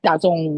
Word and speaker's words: DAZN: free again on the DAZN app. DAZN. It's all free. DAZN. And you say it like DAZN. DAZN. Worst name.